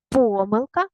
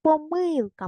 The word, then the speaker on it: помилка: будь ласка наголос самостійно помилка або помилка можна і так і так помилки поставте наголос